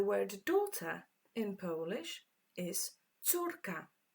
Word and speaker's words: córka: The word daughter in Polish is córka. This one is quite tricky to pronounce. Córka.